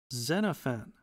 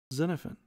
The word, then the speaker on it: Xenophon: Okay, so we pulled up Xenophon. Xenophon. It's actually, if you pronounce it right, it's Xenophon. Xenophon.